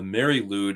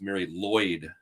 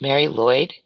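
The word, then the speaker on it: Mari Lwyd: You were there, by the way, as a Mary Lude, although I'm being told that the correct pronunciation is Mary Lloyd. It's Mary Lloyd.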